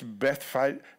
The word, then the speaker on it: Bethphage: And he says, go on ahead of me to the next town, with presumably it's Bethphage is actually how it's pronounced. It sounds French, but it's not.